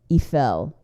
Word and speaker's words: Eiffel: that's that's sort of the Eiffel eel if I'm going to be actually phonetically correct but I'm going to sound like a jerk if I just say eel but I mean Gustav eel yeah tomato tomato right